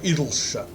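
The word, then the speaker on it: Idyllshire: Into Idleshire. Some people would insist it's pronounced Idleshire. But those people are wrong. Because it's not, for instance, you wouldn't pronounce Yorkshire, Yorkshire. It's Idleshire.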